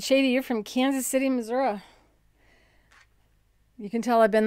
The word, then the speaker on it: Missouri: they say prescott and people that go to missouri say missouri until someone goes it's not missouri it's missouri or i may still not be saying it right i got things from